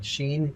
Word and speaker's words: Shein: But you've even had partnerships with like Shein, and it is Shein. That's how you say it.